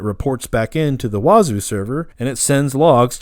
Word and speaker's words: Wazuh: Um, some other cool stuff to check out is Wazu. It's uh I know it's a weird name, but it's w a zuh. Wazu, I think it's how you say it.